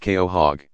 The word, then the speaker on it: quahog: long time with a Quahog pronounced Keo hog living around 150 years